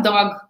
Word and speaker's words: dog: nativa na língua inglesa, ela não fala dog, que nem nós brasileiros falamos, o cachorrinho dog. A pessoa nativa, ela fala dog. É mudo, ela não põe uma vogal no final da palavra.